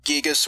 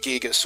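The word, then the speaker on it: Giygas: to be pronounced gigas because of how it derives from the original Japanese name which is gig so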